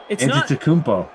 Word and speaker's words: Antetokounmpo: No, it's Antetokounmpo.